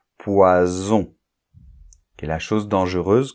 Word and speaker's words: poison: S entre deux voyelles donc de s entre deux voyelles ça va être le S sourd de poisson hein poisson et un S entre deux voyelles un seul s là ça va se prononcer un S sonore poison qui est la chose